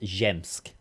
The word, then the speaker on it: Zsiemsk: Zsiemsk is pronounced Zemsk.